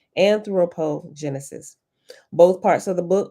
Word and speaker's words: anthropogenesis: the generation of humans anthropogenesis and anthropo anthropo i think i said it right first time anthropogenesis both parts of the